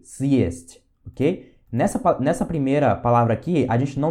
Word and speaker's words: съесть: Então a gente faz assim, ó, съесть, съесть, para poder dar essa ênfase, ok?